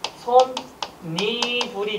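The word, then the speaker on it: 솜이불: 그럼 발음은 어떻게 된다? 솜, 니, 불이 되는 겁니다. 그럼 사이소리 현상 돼요 안 돼요?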